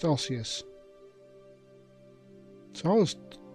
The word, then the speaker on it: osseous: So it's pronounced osseous.